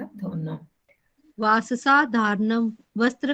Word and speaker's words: वाससः: वाससा धारणम, वस्त्र का धारण करना। देखो थोड़ा सा उच्चारण और शुद्ध कर लो, वाससा नहीं, वाससः, शीरसः, तपसः, आ की मात्रा नहीं बोलनी वो।